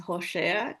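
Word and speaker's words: Hoshea: se escribe con h en el hebreo e esa palabra Oseas es Joséa, que vendría a ser una como de ahí se deriva el Yeshua como Joséa, ¿verdad? Suena así, eh, Oseas, salvación.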